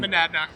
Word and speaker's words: Monadnock: I'm going to pronounce this wrong. Monadnock.